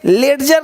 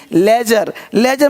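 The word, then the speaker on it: ledger: नहीं पढ़ेंगे, ये पढ़ेंगे एज, यानी डी को साइलेंट कर दिया, एज मतलब किनारा। ये देखिए हेडजे नहीं, हैज मतलब झाड़ी। ये देखिए लेडजर नहीं, लेजर मतलब बही खाता।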